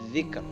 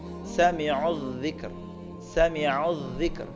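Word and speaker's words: ذِكْر: Jadi jangan wala bik, tapi harus ar, wala bikr, tapi tipis. Sami'udz dzikr, jangan sami'udz dzik, enggak boleh.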